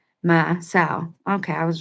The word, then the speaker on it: Maasaw: U, and other ways, each of these names for this awesome Hopi deity is pronounced the same. Ma, like the sound of a bleeding sheep makes, and so, like the noun for female pig, or sow, sorry. Ma, sow.